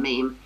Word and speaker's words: meme: after all, he invented the term meme to be a kind of cultural analogue of the gene and to rhyme with gene.